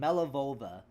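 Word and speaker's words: Malevola: Yeah, I got the name wrong. My bad. Oh, okay, here's her name. Melivova. Melivola. That's her name, Melivova.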